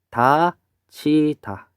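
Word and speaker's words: 닫히다: 요 디귿하고 히읗이 만나서 티읕이 된 현상을 뭐라고 하냐면 우리는 거센 소리 되기라고 배웠어요.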